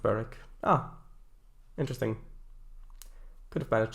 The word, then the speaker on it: Berwick: It's pronounced Berwick.